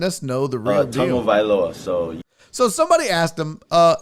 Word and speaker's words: Tagovailoa: And he says, Tagovailoa. So you say tongue first, Vailoa.